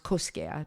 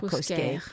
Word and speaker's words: Cosquer: Cosquer, actually. Cosquer. Pronounced Cosquer, pas Cosquer.